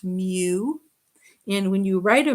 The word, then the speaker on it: mu: the greek alphabet and we use the greek letter m which is pronounced mu and when you write